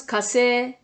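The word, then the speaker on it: 火星: Ça se prononce kase. Ça peut s'écrire kasei. Mais on doit prononcer kase.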